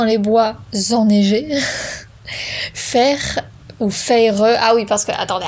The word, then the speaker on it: Feyre: qui m'a dit non, ça se prononce pas Fer, ça se prononce Feyre.